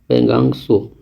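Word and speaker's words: Pangong Tso: आता है जैसे पेंगोंग, और ये TSO इसकी स्पेलिंग आती है, जो कि इसे हम लोग लिखते हैं सो, लिखा हुआ है पेंगांग सो।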